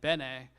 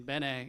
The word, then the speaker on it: Benin: the Songhai Centre in Benin in West Africa, or Benin as many English speakers pronounce the name.